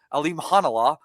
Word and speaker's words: Alimkhanuly: Alimkhanuly.